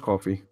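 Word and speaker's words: Ko-fi: Yeah, coffee as in KOFI though. Pronounced coffee. It's spelled KOFI.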